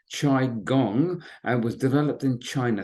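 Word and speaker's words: qigong: now quite calm just if you're not familiar with it it's pronounced chi gong and was developed in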